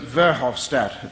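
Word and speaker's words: Verhofstadt: have even seen Mr verhoff stat that's how how you pronounce it their new head EU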